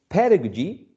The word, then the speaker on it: pedagogy: one final syllable okay so pedagogy stressed on the first syllable pedagogical in the third syllable okay uh keep that